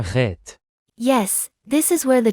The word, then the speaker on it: Het: You mean it's pronounced a bit like an H but more strongly accented, am I right? Exactly. You need to scrape the back of your throat a bit to pronounce it well.